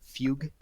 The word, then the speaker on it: fugue: It's like a love song of that Italian technique called fugue. That's how you pronounce it in English.